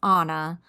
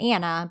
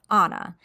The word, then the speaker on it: Anna: a few other sources her name is pronounced anounced Anna like the character in Frozen so not Anna but Anna and Anna was an